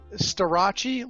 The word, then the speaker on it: Starace: So it's Starace, like Versace.